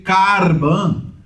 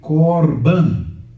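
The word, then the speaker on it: קָרְבָּן: Daí, quando eu leio aqui, eu não posso ler carban, porque tem um kamatz em sílaba fechada, átona. Então é korban.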